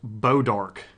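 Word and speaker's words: Bois d'Arc: Uh, that's why Missouri has towns like boys pronounced Bodark.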